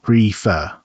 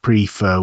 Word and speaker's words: prefer: The stress is on the second syllable. Prefer, not prefer with the stress at the front.